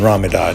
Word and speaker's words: Ramadan: We know Khabib is not going to fight in Ramadan, is how you say it.